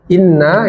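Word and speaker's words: إنّا: Ya, inna ya. Inna ini ada ghunah ibu-ibu ya. Inna dilamakan inna. Jadi jangan dicepatkan.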